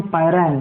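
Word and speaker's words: Pyrene: पायरैन बोलते हैं उसको, बहुत से लोग पायरीन भी बोलते हैं। यू can call it एज पायरीन और पायरैन। ठीक है, प्रोनाउंसिएशन बहुत से लोगों का अलग अलग होता है। So sometime you may here पायरीन, sometime you may here पायरैन।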